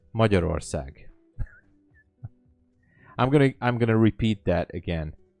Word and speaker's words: Magyarország: We're pronouncing it as Magyarország. Magyarország.